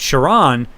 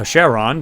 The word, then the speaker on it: Charon: did that one about shiron or Sheron depending on how you want to pronounce it um uh Pluto's